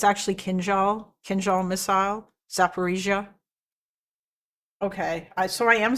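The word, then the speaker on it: Zaporizhzhia: Z should be pronounced as J but without D sound um in it like Zaparisia or Kenjal everybody pronounces it wrong as Kinszal it's actually Khal Khal missile Zaparisia okay so I am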